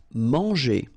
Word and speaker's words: manger: Manger. So remember here, nasal, A-N, en, man, and then when you combine this G and then E, or here ER, G, manger.